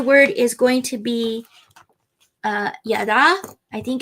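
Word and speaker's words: ידע: This week's Hebrew word, yada, to know. Pretty cool, right? Yada.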